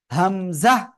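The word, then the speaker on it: همزة: হামজা। হামজা, ঠিক আছে, কোনো টান হবে না কিন্তু, একেবারে কোনো টান হবে না এই হরফে।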